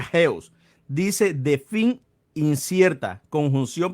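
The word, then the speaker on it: ἕως: Aquí miramos eh, Aquí miramos la palabra hasta, se pronuncia geos, dice de fin incierta, conjunción, preposición y adverbio, dice de continuación, hasta, de tiempo y lugar.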